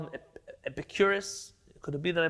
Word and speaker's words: Epicurus: There was a famous man named, in Hebrew we call him Epikuros. I think in English they call him Epicurus. Could it be that I pronounced it correctly?